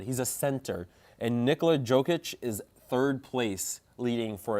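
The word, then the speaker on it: Jokić: Yeah, Jokic.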